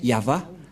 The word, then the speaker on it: Yahvah: placé au milieu Yod c'est l'alphabet hébreu qui est prononcé yava et dans Genèse 2133